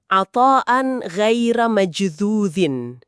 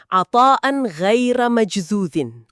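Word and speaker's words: عطاءً غير مجذوذ: Dalam bahasa Arab, frasa itu bunyinya atan ghaira majdzudin. Dibacanya atan ghaira majdzudin.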